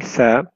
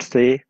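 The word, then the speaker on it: ث: Al B B the when pronouncing sa one should take care that you don't pronounce any whistle sound you cannot say s but you say sa the sa comes out when the tip of the tongue touches the edge of the top two front teeth so the tip of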